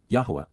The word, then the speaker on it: Yahowah: Yahwa, the proper pronunciation of the name of Eloha, God as directed in his Torah, teaching regarding his higher existence in our shalom restoration.